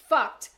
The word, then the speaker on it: FUCT: And the mark was FUCT, commonly pronounced FUCT.